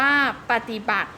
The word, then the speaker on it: ปฏิบัติ: อ่าน ว่า เครือ ญาติ ปฏิบัติ อ่าน ว่า ปฏิบัติ ประสูติ อ่าน ว่า ประสูติ